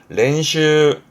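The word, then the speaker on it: 練習: 렌슈, 렌슈. 앞글자 연자, 연기하는 연자입니다. 이것도 연습이네요. 발음은 엔슈입니다. 렌슈와 엔슈는 달라요.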